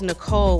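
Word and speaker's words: Nichole: Who spells Nicole with an H? I do. The H is silent, she said, spinning back around and trying to glare and smile at the same time.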